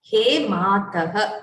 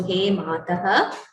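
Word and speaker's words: हे मातः: So in Samskrita, we need to pronounce every letter that is written. So He Mataha, even the Visarga needs to be pronounced fully. So He Mataha, He Matarau, He Mataraha.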